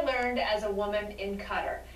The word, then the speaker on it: Qatar: tell the sovereign arab country of qatar or as the brits say qatar is the richest country